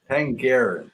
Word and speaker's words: Penderyn: Pengarin.